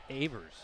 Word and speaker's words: Evers: Yeah, Cameron Evers, I believe. Evers, sorry. That's a name that's tricky around here. I've seen it pronounced Evers. I even think I heard it once pronounced Avers.